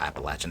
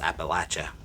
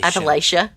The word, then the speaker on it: Appalachia: in the appalachin mountains no it's actually not Appalachian it's Appalachia but yes honey or how did the Northerners say it Appalachia Appalachia yeah no that's not how you say it no honey it's not it's Appalachia Appalachia and if you get confused just be like I'm going to throw an Apple at you and you're good oh my god I've